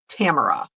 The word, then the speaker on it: Tamara: Rhymes with camera. Tamara.